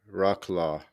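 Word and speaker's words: Wrocław: that the one spelled w-r-o claw row claws how it sounds when you spell it out rock rock law there you go close enough okay okay I may be saying it completely wrong pretty cool man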